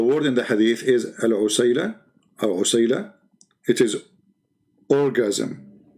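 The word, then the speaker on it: عسيلة: So in the top, there are, like there's many pronunciation for the word, but the word in the hadith is al-usayla, or usayla.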